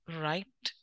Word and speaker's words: write: Write. W is silent again.